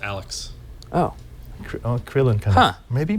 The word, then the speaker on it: ANELF3: That's pronounced Alex.